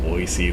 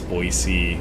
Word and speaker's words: Boise: several towns in a boise that they've mispronounced and didn't bother me near as bad like people would pronounce boise boise which it's not because there's no z there it's an s but that doesn't bother